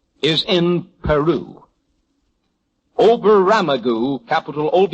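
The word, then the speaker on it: Oberammergau: Number seven, Oberamagu is in Peru. Oberamagu capital OB E R A M M E R G- A-U Oberamagu is in Peru.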